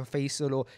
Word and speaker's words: Faisal: i only realized like the arabic way it should be pronounced which is with assad and the yeah so then i started telling people that my name is faisal or i would tell people faizal because it's a bit easier to pronounce um but when it